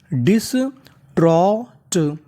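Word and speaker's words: distraught: में लिखा है जीएसटी जीएसटी को पढ़ते हैं ट यानी आपको इंग्लिश में कहीं पर जीएसटी लिखा मिले तो आपको जीएसटी का उच्चारण करना होता है ट तो मीनिंग कैसे बनती है हमारी डी आई एस इसे पढ़ेंगे डिस टी आर इसे पढ़ेंगे ट्रा और ए यू है तो इतनी मीनिंग बनी डिश ट्रो और आखिरी में जीएसटी टा तो पूरी meaning dish trout डिस्ट्रॉट dish trout डिस्ट्रॉट डिस्ट्रॉट का मतलब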